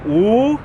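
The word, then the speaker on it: 五: And in Chinese, the number 5 is pronounced "wu," and it's real fun to say.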